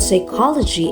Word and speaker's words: psychology: It also explains why the word psychology is pronounced without P sound at the beginning.